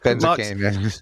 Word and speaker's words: Benzakein: I mean, if it were Smith, if my last name was Smith and you were mispronouncing it, that would be, embarrassing. But, Benzakein.